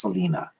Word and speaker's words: Selene: But I want you to explore Selena, Selene, I believe it's how it's spelled, but it's pronounced Selena.